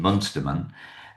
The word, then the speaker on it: Munsterman: Munsterman. Or Munsterman, how do you say it? How do you pronounce it?